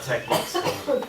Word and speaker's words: TeX: It's pronounced tech.